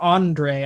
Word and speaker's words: Andres: Andre, At least on yeah. Spotify, yeah. It is spelled Andres, but they pronounce it Andre.